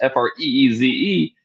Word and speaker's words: Fries: I don't even I don't even notice when somebody says it one way or the other.